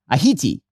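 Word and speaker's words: Ayiti: Mandani pronounced the island's name Aiti near perfect Crayole elocution.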